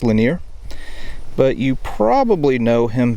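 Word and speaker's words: Lanier: Thomas the linear Williams I think that's pronounced linear but you probably know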